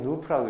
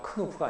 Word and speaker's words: Knoop: 이건 Knoop라고 읽어요. 큰 우프가 아니라 Knoop.